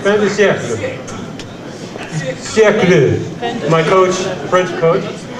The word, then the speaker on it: Fin de Siècle: This is called Fin de Siècle. Is that right, the pronunciation? Fin de Siècle.